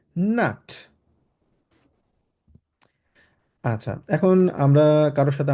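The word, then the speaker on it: Nacht: এখানে সিএইচ আছে, সিএইচটাকে আমরা ক্ষয়ের মতো উচ্চারণ করব, বলবো গুটে নাক্ট।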